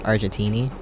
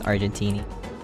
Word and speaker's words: Argenti: The next future character I want to get is Argentini. Argenti. And how to say his... Sorry, Argenti. I don't know why I was saying it like that.